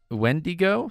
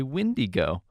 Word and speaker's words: Wendigo: Wendigo. Some say Windigo. But it's essentially the same creature. Mm-hmm. Well, it is the same creature. But just a different name for it. Different pronunciation.